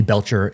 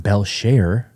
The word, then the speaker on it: Belcher: But, uh, yeah, I found out it's actually pronounced Belshare. It's French.